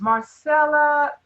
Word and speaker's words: Marsala: it let me make sure I have the pronunciation of your name it's Marcella you could just say this